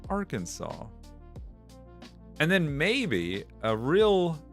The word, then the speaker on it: Arkansas: It's it's actually pronounced Arkansas."